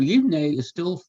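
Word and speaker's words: יבנה: As I told you, Yivneh is how you say he builds in biblical Hebrew. It's also the way you say it in modern Hebrew.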